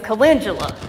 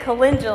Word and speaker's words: calendula: and transplanted them out there and couldn't even pronounce at the time it was calendula it said or it was calendula and I said it calendula I said it the wrong way okay I